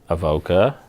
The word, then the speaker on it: Avoka: think we channel everything to our website so Avoca you would you you're pronouncing perfectly now av ok echo time lucky